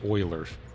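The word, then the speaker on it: Euler: I know that there was the oiler uler oiler or uler filter. I think it was Oiler is how it's pronounced in Maya, but I don't know how to actually change that.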